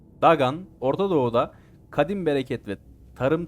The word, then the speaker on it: Dagon: Filistinlilerin ana Tanrısı olan Dagon dagan diye okunuyormuş dagan Ortadoğu'da Kadim bereket ve